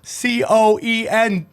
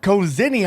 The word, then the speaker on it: coenzyme: to boost nad levels okay the essentially cozinium c-o-e-n-z-y-m-e how do you say that cozzini oh enzyme coza okay coenzyme i like that